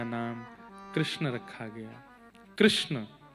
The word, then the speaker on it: कृष्ण: नाम कृष्ण रखा गया कृष्ण इस शब्द का उच्चारण कई लोग शुद्ध नहीं करते क्योंकि शुद्ध कर लेंगे तो फिर भगवत प्राप्ति हो जाएगी इसलिए सब लोग इस नाम को कोई किशन बोलता है कोई कृष्ण बोलता है कोई कुछ बोलता है